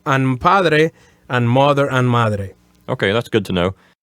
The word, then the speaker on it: madre: it right yes now on the first two words that we learn here Padre and Madre the accents go in the first syllables as opposed to the last syllables don't say padre or madre no padre first syllables madre first syllabus so it's